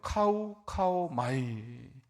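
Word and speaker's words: καυχάομαι: 카우 마이. 한번 따라해 볼까요? 카우 마이. 네, 여러분 대단하십니다. 처음 해보는 단어인데 이렇게 또 발음들을 잘하시네요.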